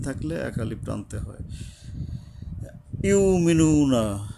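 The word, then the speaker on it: يؤمنون: ইউমিনুনা অনেকে অনেকে ইউক বলে। আসলে ইউক আসে না। আমি আমার ওস্তাদের সাথে এই শব্দটা নিয়ে কথা বলেছিলাম। কিন্তু উনিও চিন্তাভাবনা করে বলছেন ইউমিনুন। মানে এটা হলকের গোড়া থেকে শক্তভাবে উচ্চারণ হবে এইযে ওয়াও ইউ আবার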